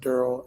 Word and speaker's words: Daryl: It's pronounced Daryl and Okay.